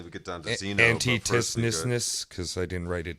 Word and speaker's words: Antisthenes: Antisthenes.